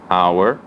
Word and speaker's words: hour: Mais conhecida, hora, hour, herdeiro, que em inglês chama heir, honesto, honest, e honra, honor. Então aqui temos exemplos de 4 Hs que não são pronunciados, são mudos.